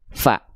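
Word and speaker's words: ف: Fa berubah menjadi Pa. F berubah menjadi pi.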